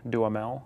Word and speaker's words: Duhamel: So I got to wrestle with the now incandescently famous Josh Duhamel, I believe you say.